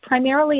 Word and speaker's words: Primerrily: you can find us primarily as a portmanteau of primer and merrily like the new england primer of education and merrily down the stream so it's spelled differently than it sounds to solve that we've